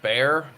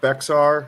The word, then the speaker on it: Bexar: I don't know if you remember the tactile bear. Was that the thing that everybody called Bexar or whatever? Yeah, it's spelled Bexar. Okay. But it's actually bear.